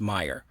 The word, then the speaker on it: Meijer: the store chain uh meijer if i'm pronouncing their name right i believe it's pronounced meyer it looks crazy on paper but it's it's i believe it's meyer uh they're a mid